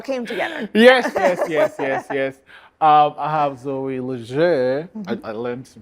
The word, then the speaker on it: Zoe Leger: I have Zoe Leger. I learned to pronounce it well.